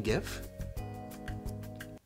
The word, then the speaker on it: GIF: in some re-education facility until he learns to pronounce Jif correctly don't you mean give well that's all the time we have for